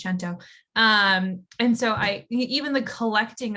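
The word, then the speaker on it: cento: have to like collect santo chento there's so much conversation around how to say the word i'm italian i'm going to tell you it's gento um and so i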